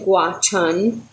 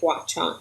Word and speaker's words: Gwacheon: grace Road Church and Gwacheon which I did look up how to say it something like watch on a lot of time